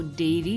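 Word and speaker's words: dairy: में एक अंतर है डी ए आई आर वाई को डेरी करके पढ़ा जाता है जबकि डी आई ए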